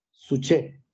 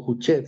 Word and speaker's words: Juche: teniendo presencia esta idea, la famosa idea Suche, o Juche, según la pronunciación.